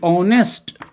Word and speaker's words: honest: तो ऑनेस्ट में देखिए the first letter H इज a consonant letter, तो कॉन्सोनेंट लेटर है फर्स्ट लेटर, लेकिन ऑनेस्ट में उच्चारण करके दीजिए ऑनेस्ट, ओ, क्या किसका उच्चारण आ रहा, ओ का। यहां देखिए ये है, यहां से उच्चारण आ रहा है ना, ओ का। तो ये साउंड है, मतलब वोवेल साउंड है इसमें।